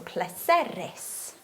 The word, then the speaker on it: pleserus: It's always going to be on the last syllable but one. So pleserus, iawn?